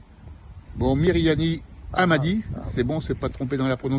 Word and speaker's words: Mirihani Ahamadi: également Myriani Hamadi. C'est bon, c'est pas trompé dans la prononciation?